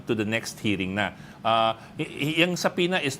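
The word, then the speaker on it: subpoena: be sending out saas saas sorry silent B saas for these vloggers to come to the next hearing uh sapina is not yet an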